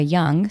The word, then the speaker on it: Young: I am on Instagram, and I am Young, spelled with an H. The H is silent, and Young, as in forever young.